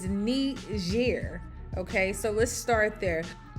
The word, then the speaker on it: Niger: these people the respect put some respect on their name by pronunciating the name of their country correctly is not Niger it's not Niger it's neat year okay so let's start